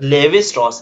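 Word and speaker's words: Lévi-Strauss: लेविस स्ट्रॉस है, levy लेविस भी नहीं है, लेवी है, levy LEVI, levy Levi स्ट्रॉस है, लेवी सर स्ट्रॉस ना सर, हाँ sir levy लेविस स्ट्रॉस Levi स्ट्रॉस बहुत है ना, स्ट्रक्चरल एंथ्रोपोलॉजी दिया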